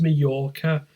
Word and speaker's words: Majorca: it's spelled with a j yeah you you pronounce it as Majorca but yeah it's a it's a classic advert